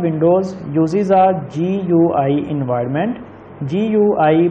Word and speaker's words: GUI: GUI, pronounced GUI, stands for, answer is Graphical User Interface.